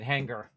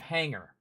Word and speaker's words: hangar: south uh was when she said hanger instead of Hangar see in in the in the west coast we don't accentuate the G the g is silent all right now we're